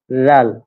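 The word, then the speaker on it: ذال: হ্যাঁ, এই দাল এবং তারপরটা হচ্ছে লাল, এটা অনেকটা নরম করে উচ্চারণ হবে, লাল।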